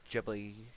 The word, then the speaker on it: Ghibli: and Marvel studio ghibli Ghibli however you want to present it it's Ghibli that's how I pronounce it but as for Nintendo